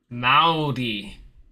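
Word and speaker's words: Māori: Okay, we roll our R so it sounds like Maudi.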